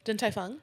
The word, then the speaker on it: Din Tai Fung: Din Tai Fung.